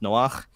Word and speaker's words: Noach: My name Noah in Hebrew is pronounced Noach. The H at the end is actually a Hebrew chet, which is this guttural noise I'm making right now.